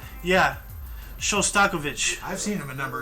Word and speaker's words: Shostakovich: guy so often I now know how to pronounce his name yeah that's really something like yeah showstokovic I've seen him a number of times so